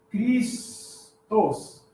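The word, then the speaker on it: Χριστός: Christos. Tá? Como é que se escreve Cristo em inglês?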